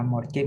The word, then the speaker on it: mortgage: Contohnya kata mortgage, mortgage ini cicilan rumah. Tulisannya itu ada RT-nya, tetapi ketika dibaca itu voiceless.